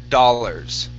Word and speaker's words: dollars: Okay, so here instead of saying dollars, okay, we're gonna use an ah sound here. Okay, da. Dollars. Dollar. Okay. Now the AR at the end of the word is going to equal an ER. Instead of dollars, okay, it's dollars.